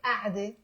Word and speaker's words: قعدة: We're not pronouncing it qa'de. We're pronouncing a'de.